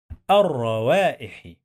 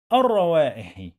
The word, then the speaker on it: الروائح: لي لي ت تح لتح لتح ضي لتحضي ضي لتحضي لتحضير لتحضير لتحضير لتحضير الروائح. الروائح. الر الر حرف اللام هنا لا ينطق.